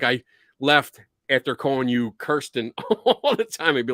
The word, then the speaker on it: Kirsten: So you guys, Shane and am I pronouncing this right? Kirsten? Kirsten, yes.